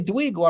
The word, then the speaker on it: Duygu: working on and dealing with emotions most of Dweegu. my life. Yeah. If I say Dweegu, I'm not speaking out of turn. Yeah, that's perfect. That's great Dweego, pronunciation.